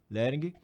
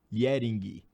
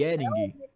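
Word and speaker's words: Jhering: Lering. Yering. É um I, Yering. Obrigado. Parece o L, né? Eu sei. Qual a área dele? Aí a curiosidade, eu sou curioso. A área dele, do Rudolf von Yering?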